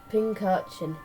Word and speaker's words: Pincurchin: Now my least favourite electric type is one from Galar, Pincurchin. Yes, I said that right. I had to Google up how you pronounced it.